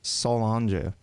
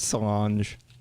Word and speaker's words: Solange: I did some research, looked up how to pronounce Beyonce's sister's name. It's Solange. No, it's not. It's Cilantro? Cilantro. Coriander? It's Solange. Yeah, something like Solange.